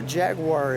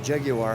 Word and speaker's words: Jaguar: And you know, Jaguar is Jaguar.